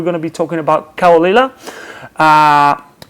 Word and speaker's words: Caol Ila: editions today we're going to be talking about kawalila okulila has properly pronounced this one has been double mature for